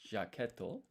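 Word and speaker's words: ジャケット: It's jaquetto. Jaquetto. And so here we've got G and then ya. But this is not pronounced Ji-ya because this ya is half-sized.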